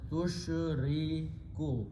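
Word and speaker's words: تشركوا: So the grammar is you put a ta with a dhamma in the beginning and pronounce as tushriku.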